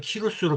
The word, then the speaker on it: 키루스: 과거 바벨론에 유배되었던 조상들은 키루스의 귀한 친형, 키루스가 고레스를 새한글 성서는 키루스로 표현하고 있고 이게 조금 더 그 발음에 정확한 표현입니다.